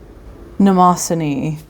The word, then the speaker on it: Mnemosyne: be talking about maraman nasin uh don't come at me for that pronunciation I checked both the Japanese and the Greek pronunciation of Nason and it's